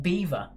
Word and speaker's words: Belvoir: kent or essex so it looks like belvoir but it is in fact pronounced beaver we were going to